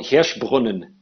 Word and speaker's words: Hirschbrunnen: Yeah, it's called Hirschbrunnen.